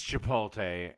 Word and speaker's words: Chipotle: It's Chipotle.